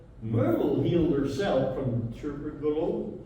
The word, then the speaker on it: tuberculosis: This is how Myrtle healed herself from tuberculosis.